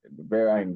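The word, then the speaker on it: Verra: So, the pronunciation will be Vera actually.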